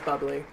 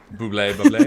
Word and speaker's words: Bublé: Bubbly is I'm gonna pronounce his name as Bubbly. Bublé.